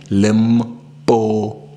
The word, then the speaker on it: Limpopo: And please pronounce it correctly. Limpopo.